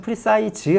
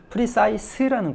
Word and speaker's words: precise: 발음이 약간 다르니까 프리사이즈 조심할 것은 프리사이즈 하고 싶은데 이게 왜 그러냐면 우리가 사이즈라는 단어를 알고 있어서 그러거든요 프리 사이라는 거 명심하시고요 또 명사일 때 프리시